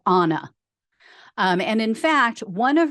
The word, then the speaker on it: Anna: and that she used the American pronunciation of Anna, like Anna, when they knew her. However, now she uses the Spanish pronunciation, so she would call herself Anna.